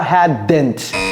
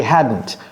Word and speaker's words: hadn't: Ce n'est pas hadn't. Ne prononcez pas le D. Ce n'est pas hadn't. C'est hadn't.